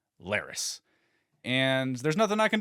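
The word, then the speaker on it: Larys: that I misspoke and the proper pronunciation on this character's name is not Lars but rather Lis and there's nothing I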